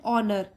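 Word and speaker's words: honour: मान्यता देने का, एंड ऑनर, इसको एच साइलेंट होता है, इसमें नहीं पढ़ते हैं एच को, ऑनर, ठीक है, यहाँ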